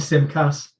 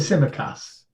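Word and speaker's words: Tsimikas: through this problem again how did i pronounce it last week and however he pronounced it it was just wrong it was wrong it's it's to sim cass it's a simmer cass okay it's a sim cass in the first 11 please he's asking um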